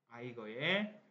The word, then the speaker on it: Eiger: 아이거의 북벽입니다. North Face. 자, 처음부터 한번 가보죠. The Eiger is a mountain in Switzerland. 스위치런드 어딥니까? 스위스 있죠. 오케이. 스위스에 있는 산 이름이 아이거입니다. 아이거. 독일어 발음이었어요.